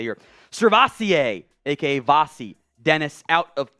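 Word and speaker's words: SirVocea: Fun fact, he's named after the French cognac. I think it's pronounced Courvoisier, after his father heard the drink one night at a restaurant.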